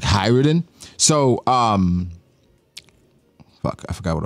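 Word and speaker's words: Hajrudin: People are like complaining about how I said hi Rudin. Like, oh, the J is silent. Like, oh, fucking One Piece... How is it? Fandom. It's like Hyruden.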